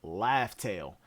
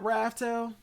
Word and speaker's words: Raftel: I'm still going to call it Raft-Tale because it sounds more piratey. You know, raft and tail, it's spelled Raftel, Raft-Tale, but like raft as in a raft on the sea, and a tale and a story, like a story of a raft or whatever.